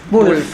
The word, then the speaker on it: Wulff: bien tu apellido en realidad a ver pronuncio vos por favor Wolf casi todos te decimos Wolf Bueno qué